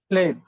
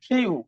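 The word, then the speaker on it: flew: Past participle form হয় ফ্লেড। আর যখন উড়া অর্থ হবে, তো তখন কি হবে? ফ্লাই, ফ্লু। এটার উচ্চারণ কি হবে বলো দেখি? ফ্লু। আমরা তো উচ্চারণ করতাম ফ্লিউ, কিন্তু উচ্চারণ হবে ফ্লু।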